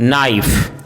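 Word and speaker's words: knife: यदि किसी वर्ड में के एन साथ में हो तो के का उच्चारण साइलेंट होता है जैसे नी नोब नाइफ नो नाइट ड नौक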